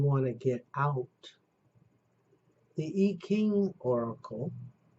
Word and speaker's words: I Ching: And then for some people, if you want to get out, the I Ching Oracle, an I, which is pronounced E in China, where I've studied, and Japan, King, Ching, with the K sound, which I've showed you several times.